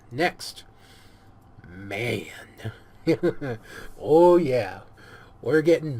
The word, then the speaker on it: MAN: Oh yeah, we're getting manly. I know that a lot of people say it's pronounced M-A-N. Yeah, I know this. Okay, I do. But you still call it a man truck.